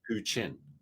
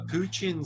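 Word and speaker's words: プーチン: the thing with like in the Japanese um pronunciation there's no like T sounds that we use Chi so Putin becomes puchin and it sounds so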